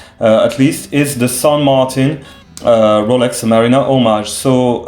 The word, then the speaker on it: San Martin: things about you know people trying to pronounce san martin they are trying to pronounce it in french i really don't know why they are trying to pronounce san martin in french so i'm i'm hearing them trying to say san martin you know san marta in french that's how you pronounce it i'm french i know but uh sun means uh saint in spanish in fact so i don't think